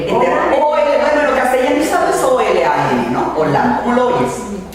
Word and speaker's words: Olam: ¿Cómo se escribe? El eterno. Bueno, lo castellanizado es O-L-A-M, ¿no?